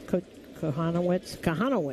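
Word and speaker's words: Kochanowicz: It's Jack Kohanowitz. How do you pronounce his name? Kohanowitz?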